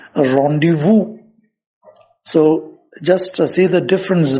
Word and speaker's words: rendezvous: that v-o-u-s now going by the spelling we pronounce it as rendezvous when in fact it has to be pronounced rendezvous so just see the difference between the spelling